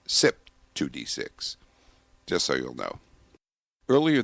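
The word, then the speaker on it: CYP2D6: That enzyme is C YP2D6. However, it's pronounced SIP 2D6.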